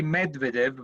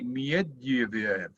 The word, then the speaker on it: Medvedev: Like But I mean, like we like we say Medvedev, but we should say Medvedev.